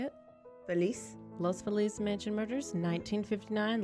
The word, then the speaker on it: Feliz: Feliz.